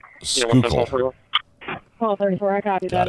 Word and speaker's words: Schuylkill: Schuylkill is pronounced Schuylkill.